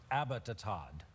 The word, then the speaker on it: Abbottabad: I was told today the pronunciation is Abbottabad.